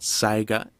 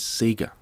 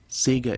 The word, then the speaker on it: SEGA: to show the world the correct way to pronounce the company's name it is not Sega okay that is wrong it is Sega Sega is the correct pronunciation that is how it